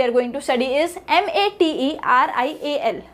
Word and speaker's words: material: Now the next example we are going to study is MATERIAL. So here T and E are the primary syllables and the both A's in the spelling are the reduced syllables, and material.